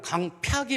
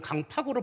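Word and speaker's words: 강퍅: 너무 강팍해져가지고, 우리나라 말로 강팍이 맞는 발음이에요. 발음상으로 우리가 보통 발음할 때는 강팍으로 발음합니다만 한문으로는 강팍이 맞는 말이에요.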